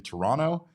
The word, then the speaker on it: Toronto: We're learning new things all the time, including that we don't pronounce the second T in Toronto and also that Jordan Lawler might be the Diamondback's answer to center field in the future.